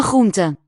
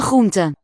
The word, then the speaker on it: groente: one of the most fascinating questions about Dutch pronunciation to me is the many variants of the R phoneme. Here it's after the laryngeal ch, that real deep guttural one.